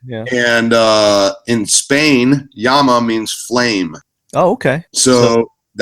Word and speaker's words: Llama: little side note there a lot of people think about it as like the animal the Llama you know the the pack animal from South America right it's pronounced Yama if you want to